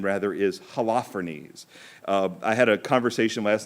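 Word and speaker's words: Holofernes: general's name rather is halophenes i had a conversation last night with the priest about exactly how to say this name in greek it would probably be something like oloferne but we're not it's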